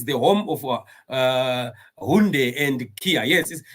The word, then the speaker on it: Hyundai: Brother Reggie says the home of Hyundai and Kia. Yes, it's they pronounce it Hyundai. They say it's called Hyundai. In Zimbabwe, we call it a Hyundai.